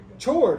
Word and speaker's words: chord: would i pronounce it chord i'd say chord are you with me ch it's a ch it's actually pronounced chord with a k k-o-r-d right that's how